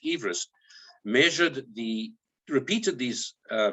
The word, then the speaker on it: Everest: hint from george everest i gather correct pronunciation is everest measured the repeated these